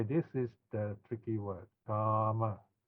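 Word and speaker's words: kāma: Kama. Okay, notice a single M here with a long R. This pronounced R, not A, no? Because we want to remember the sound. Ka, R, Kama.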